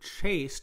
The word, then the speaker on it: chaste: now the english word chaste this is the adjective it's pronounced exactly like the verb past tense of to chase but this means what